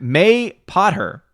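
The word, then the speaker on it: Mapother: too Tina says Tommy mapa Thor is Tom Cruise whoa I forgot that's his real name Tina is okay Matt may pot her may pot her wait that says that's how you pronounce it Tommy may Potter what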